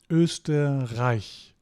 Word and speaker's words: Österreich: Österreich. Okay. It's not pronounced A, it's pronounced I. Very very common mistake.